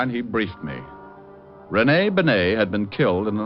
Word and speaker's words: Bennet: Rene Bennet? Yeah, I guess that's the way you pronounce it. You see, Otis, you mallet head, you were wrong. It's pronounced Bennet, not Benny.